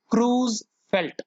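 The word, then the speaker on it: Creutzfeldt: तो उसको पढ़ेंगे कैसे, क्रूज, टी जो है वो साइलेंट है, क्रूज फेल्ट, और डी साइलेंट है, फेल्ट, क्रूज फेल्ट Jacob disease.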